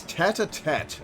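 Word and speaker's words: tête-à-tête: It's tete-a-tete. Okay. If the word ends with an E, you pronounce the T.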